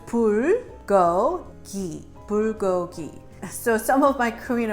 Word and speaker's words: bulgogi: I'm going to teach you how to phonetically pronounce this okay so it's pour go eat bulgogi so some of my Korean American friends that